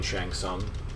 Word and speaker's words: Shang Tsung: with adam collins beth my compliments for the silent t in shang tsung mortal kombat or as